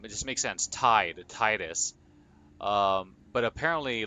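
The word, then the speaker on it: Tidus: I'm still a little bit salty about um the the the canon pronunciation of um of Titus from Final Fantasy 10 because like I always felt like it was Titus like cuz it was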